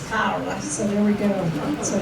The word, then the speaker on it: Cara: We all say Carara cuz we live in Texas. It's actually Italian and it's Kyra.